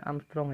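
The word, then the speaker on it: Ångström: gelombang cahaya 6000 Amstrong itu dibacanya Armstrong ya kalau ada huruf a di atasnya ada bulat kulitnya yang bertanya maka energi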